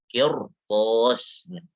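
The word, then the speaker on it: قرطاس: Maka di sini tidak boleh dibaca tipis. Kirtos nggak bisa, harus tebal. Kirtos. Harus tebal, kirtos, seperti itu. Kenapa harus tebal? Karena setelahnya huruf isti'la.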